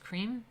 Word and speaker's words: Krim: is from Sanskrit and which we spell Krim but as pronounced cream cream per ounce like